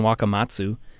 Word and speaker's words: Wakamatsu: earlier this year, Don Wakamatsu. I always have trouble pronouncing that name, but I think I got it right. Uh-huh. Is that the right way? Well, yeah, you nailed it.